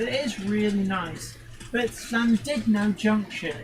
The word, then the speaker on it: Llandudno: No, it's Llandudno. Llandudno. The U is pronounced as an I.